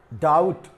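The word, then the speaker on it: doubt: डाउट, तो यहां टी बाद में आया है, तो टी का उच्चारण तो हमने कर लिया, लेकिन यहां पे देखिए बी साइलेंट है।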